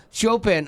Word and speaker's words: Chopin: Christmas Chop c h o p i n c h o p i n Chopin it's pronounced Chopin uh he he was a famous